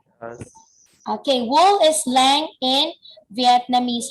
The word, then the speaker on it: len: Len, is it correct? Yes. Okay, wool is lang in Vietnamese.